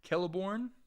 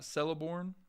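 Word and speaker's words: Celeborn: just too freaking pimp pronounce calborn just so you know kelborn not celorn that makes sense do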